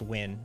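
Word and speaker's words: Nguyen: ] up in spelling and it's set it's pronounced win oh like like the n-g-u-y-n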